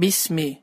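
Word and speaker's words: بِسْمِ: sözünde Bismillah olarak kesirler kesir hareketini Düzgün telaffuz etmeleri bu Bismil fırında miktar bir şekilde kesra yani iyi sesi açın vardın bir şekilde telaffuz olmalıdır Bismi bezleri bunu 5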